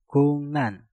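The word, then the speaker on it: 국난: Giok yang ada di kata guk kita rubah menjadi ngieng dan realnya kita rubah menjadi nien. Maka cara pengucapannya menjadi kungnan, kungnan, kungnan, kungnan.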